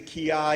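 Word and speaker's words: kiai: And when I had my students ki-op, the ki-op, in Japanese it's the ki-ai, it's the yell that everyone associates with the martial arts.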